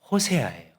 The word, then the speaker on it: 호세아: 호세아 이렇게 이제 발음을 합니다. 그 앞에 여자를 붙인 거예요. 그래서 여호쉐아 이렇게 되는 겁니다.